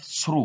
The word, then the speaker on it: through: We have through. We don't pronounce this G and H that ends the word.